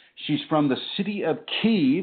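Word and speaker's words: Kyiv: She's from the city of Kee, which the Americans mispronounce as Kiev.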